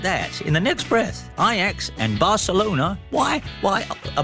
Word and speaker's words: Ajax: iax playtime this week ix i'm saying in the week are the only football club in the world that have the benefit of being pronounced as they as locals do because ix and then